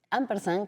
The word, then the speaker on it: ampersand: Ampersan, que se se dice casi en esdújula y y tú lo pronunciaste un poco como es la etimología, porque viene eh de